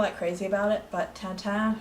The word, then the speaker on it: Tintin: crazy about it, but Tintin, who's also pronounced Tintin, but my mother's bilingual, she also speaks French, and so she always pronounced it Tintin, was one of my childhood favorites.